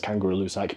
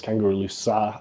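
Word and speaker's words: Kangerlussuaq: to say that because that's not how it's said locally I know everybody I know says kangaru luak but it's kangaro Lua I heard and I'm sorry if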